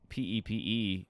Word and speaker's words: Pepe: He wrote, he wrote P-E-P-E and then wrote pronounced Pepe.